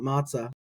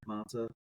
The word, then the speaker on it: מצא: I could make sort of a pun, like I don't have a mnemonic device and it don't matzah, right? Like matter, matzah.